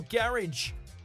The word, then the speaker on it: garage: It's often pronounced with a long A at the end in America, sounding more like garage.